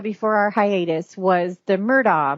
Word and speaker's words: Murdaugh: that we had before our hiatus was the murdah murders and that is how you pronounce it the murder murders um if you